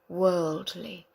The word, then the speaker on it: worldly: read some words we'll worldly that's difficult with the LDL so go world world lieth world li break it up worldly worldly he is a